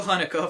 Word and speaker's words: Haneke: I learned how to pronounce his name! Michael Haneke for Amour, Ang Lee for Life of Pi, David O.